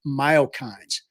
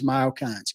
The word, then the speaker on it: myokine: body as a result of muscle contractions called myokines.